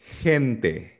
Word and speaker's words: gente: Gusto gusto nagiging soft G or parang tunog na h or H sa English na house kapag ang letter G ay sinusundan ng E or I. So for example, hente.